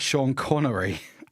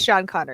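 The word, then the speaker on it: Sean Connery: course of course we also had the Epic Shan connory as and if I can say this right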